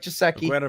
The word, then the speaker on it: Gesicki: after him, we had Mike Gesicki, and then it's actually how it's pronounced, by the way.